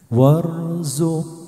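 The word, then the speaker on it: وارزق: warzu bifahmil Anbiya ya Ini bacanya warzuq bifah warzuq bifah warzuilu ya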